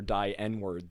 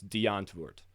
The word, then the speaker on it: Die Antwoord: coming from south africa their name derives from afrikaans which is a sub language of dutch i mean it's a full language of course but it's historically related to dutch so it has the pronunciation similar to german as deontovort where it's like the w being a v and i think even the ending d is a t being deandre um translating